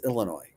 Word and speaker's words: Illinois: It's not ill Illinois. It's Illinois. Illinois.